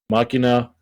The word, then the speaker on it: Machina: you are archetype mugginess sahel is pronounced máquinas yes machina mikonos are finally getting